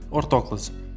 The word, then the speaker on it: ortóclase: In Porto, it is said in fact orthóclase, which is the correct way to say the word, taking into account the original word from which it was translated and it is also